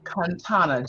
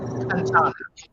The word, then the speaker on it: Kantana: The name is phonetically pronounced Kantana, just as it's spelled, Connonna. Kantana.